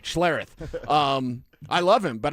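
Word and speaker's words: Schlereth: And I'll even pronounce his name right, Schlareth.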